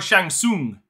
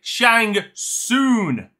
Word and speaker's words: Shang Tsung: understand here's the thing I can understand different pronunciations of saying like Shang or Shang Tsung but he said Shang soon soon s o n that that's where my